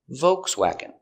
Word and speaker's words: Volkswagen: Pronunciation. Volkswagen. Vv. Vibration with your teeth. VV O V C-V WW open sound W vokesw awk swag Swag. Volkswagen. Volkswagen. Volkswagen. Stress on the first syllable. Volkswagen.